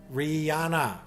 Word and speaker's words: Rihanna: But her name has H. The H is silent, Rihanna. Really? Everyone's agreed? Okay, tell me, chat. You know the songstress, the musician, the singer, Rihanna, or is it?